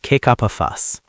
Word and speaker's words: kick up a fuss: We often link the words kick up a fuss. The K in kick connects to the up. Yes. Kick up a fuss. It flows quickly.